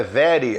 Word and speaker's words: very: vera viel esse were olha a pronúncia né very very olha o r aí eu como se pronuncia em inglês com a língua para trás very well junto nesses o